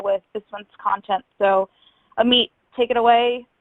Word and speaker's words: Amit: It's pronounced just like you hear it, like nice to meet you.